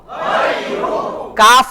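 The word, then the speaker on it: غيرك: জবর গাই গাই গাই র পেশ রু গাইরু গাইরু কাফ জবর গাইরুকা গাইরুকা ওয়ালা ইলাহা গাইরুক ওয়ালা ইলাহা এখন কিন্তু আমি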